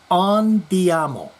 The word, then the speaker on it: andiamo: In last week's comments regarding Gene, I used the Italian term andiamo, pronounced andiamo.